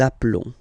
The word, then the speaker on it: appelons: Okay, final s doesn't exist. Nous appelons.